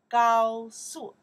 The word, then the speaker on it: 高速: 高速, 高速, 高速, high speed. Careful, do high speed, high speed. 高速, okay, the pinyin here. 高速, the first tone, the fourth tone.